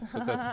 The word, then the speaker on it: Socoop: Mais ça s'écrit Basley. Basley. Ça va, tu... Socoupe. Volante. Socop. Socop.